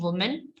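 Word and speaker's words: woman: जब इसका plural change होता है तो इसकी प्रोनाउंसिएशन चेंज जाती है। सिंगल है वुमेन, और जब हम इसको प्लूरल को बोलते तो विमेन, वेमेन, वो की साउंड आती है वुमेन, और ये वू की आती है, वो वो, और ये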